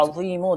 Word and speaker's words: عظیم: بھی پڑھ کر۔ یا عظیم، دیکھیں اس میں تلفظ کی درستی مدنی چینل کے ناظرین بہت زیادہ ضروری ہے۔ عین و یا میم، یا عظیم۔ جب بھی آپ پانی